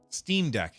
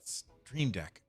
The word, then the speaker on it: Steam Deck: Steam Deck, not Stream Deck. Keep saying it wrong.